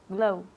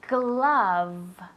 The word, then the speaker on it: glove: Glow. Glow. Se dice glove.